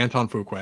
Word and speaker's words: Antoine Fuqua: Is it pronounced Antoine Fuqua? It is, isn't it? I believe so, yes. Damn it. Okay, Antoine Fuqua.